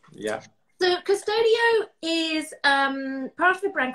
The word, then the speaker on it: Custodio: This is Custodio. Have I pronounced that correctly? That's perfect. That's perfect. Okay. It means guardian angel in Latin. Wow, a beautiful name. Yeah. So Custodio is part of a brand called Swissline.